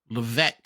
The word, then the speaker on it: Levesque: I would definitely, if I was Levesque. Is that how you pronounce his last name?